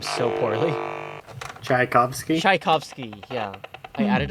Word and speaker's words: Tchaikovsky: It plays like some Chatsviaski before like dying. I pronounce his name so poorly. Tchaikovsky?